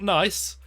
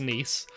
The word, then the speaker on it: Nice: missing on this one nice biscuits not nice they've got nice written on them but they're pronounced nice never turn down they